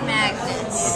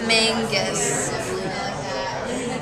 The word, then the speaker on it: Magnus: that's how you say it sioban Magnus not Mangus so the next question